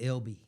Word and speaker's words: Elba: it's Coffee County is Elba. Yeah. Alabama. A lot of the locals say LB, you know, like LB or EB.